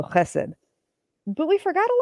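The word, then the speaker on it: חֶסֶד: They spelled it phonetically, so chesed. The ch is the first letter. This one makes and this is a s sound, and that's a d. So chesed.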